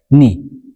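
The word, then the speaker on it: knee: ከዓ ዘለተር ከይ ከይ is silent if a word starts with kn ከይ ምስ kn ዝጅምር ቃል እንድሕን ሃልዩ ከይ ሳይለንት ይኸውን እዩ ኣብነት ንርኢ ኒ ኖት ኪኒ ዝኾና ንብልስ ኒ ኢና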